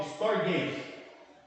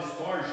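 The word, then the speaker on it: στοργή: que tem o grego é storg mas a gente fala storge porque escreve storge né mas pronuncia storg que é o amor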